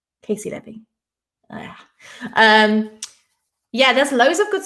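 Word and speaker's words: Caissie Levy: Is it Casey Levy? It is. That's how you say it, isn't it? Cassie Levy. Casey Levy.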